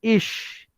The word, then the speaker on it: ich: How you will write, once you will start pronouncing ish, write down ish, ich, like that.